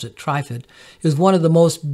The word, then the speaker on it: Trifid: tripod nebula also known as mezzie a20 some pronounce it TripIt but I pronounce it trifid is one of the most beautiful deep space